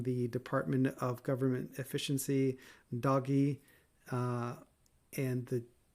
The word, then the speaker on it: DOGE: false information from the Department of Government Efficiency doggy. Uh, and the G has a gus sound, so it should be doggy. And I refuse to pronounce it Doge.